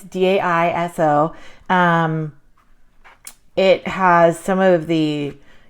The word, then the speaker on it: Daiso: But I found this little book at I do not know exactly how you pronounce this, or I think it's Daiso. It's Daiso.